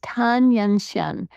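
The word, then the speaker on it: Tan Yunxian: So it's Tan Yanxian. And in Chinese, the first name that you read is the family name. So her family name is Tan, and then Yanxian. And what we're noticing in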